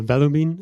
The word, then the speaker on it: Vellumine: behind the, first of all, did I pronounce it correctly? And can you quickly introduce yourself? Yes. Hi, Uh, Valumin is correct.